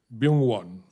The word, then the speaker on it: Byungwon: And I think let me begin the proceedings by inviting our first presenter, Professor Byungwon. He told me his name rhymes with young one.